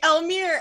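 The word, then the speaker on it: Elmire: call the next one elmir will be played by donna hello i will be playing elmer and we're gonna stick to that pronunciation because i was gonna based off my pronunciation off of yours all right if anyone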